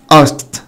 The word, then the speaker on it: asked: ask ask ask معناها يسأل، asked asked asked asked. وساعات عشان يسهل النطق يخفف خالص من حرف الكه او صوت الكه، asked asked يعني سأل.